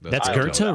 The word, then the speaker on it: Goethe: I mean, that's Goethe, really? Yeah. That's how you say that? That's German, yeah. VONGOETH. That's Goethe? Goethe. Wow. You don't pronounce the TH.